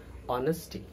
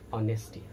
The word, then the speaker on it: honesty: there is a honest honesty honesty mind the pronunciation honesty not honesty hot hate humble humility humility not humility humility